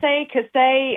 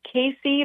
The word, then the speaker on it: Kassay: way you got it you got it it's Cass Cass the the one that's a little bit of a stretch is Casey but I always if someone says that if